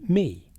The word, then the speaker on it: Me: The brilliance of Enki lies in his role as the god of Me, pronounced as Me.